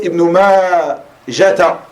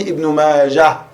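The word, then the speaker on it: ابن ماجه: Ibn Majah s'écrit Ha. Et vous trouverez beaucoup d'erreurs chez certaines personnes qui prononcent Ibn Majata. Ibn Majata. ou qui écrivent simplement Ibn Majah avec ta marbuta. On dit Ibn Majah, tu t'arrêtes dessus, sukun, tout le temps, même si tu continues la lecture.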